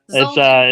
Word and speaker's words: Zoldan: Yeah, it's so it's pronounced Zoldan. Zoldan. It's Okay. yeah, Zoldan. Yeah, but I answer to whatever. It doesn't.